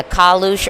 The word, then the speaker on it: Kalush: Yeah, how do you pronounce, is it Kalush? Is that the artist? Yeah, Kalush Orchestra.